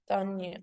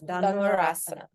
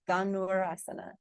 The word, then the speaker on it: Dhanurasana: There's no Y. Danyu. So it's danurasana. Danurasana. No ya sound. Danurasana. Danurasana.